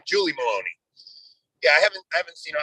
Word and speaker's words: Meloni: I was going to say, Anthony, pronounce that for us. Meloni is right.